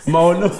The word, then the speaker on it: Maono: Maono. Maono. Oui. Création Maono. Ça s'écrit commento.